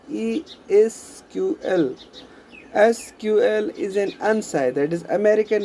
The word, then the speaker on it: SQL: done through SQL language SQL is pronounced as E is QL SQL isn't unsighted is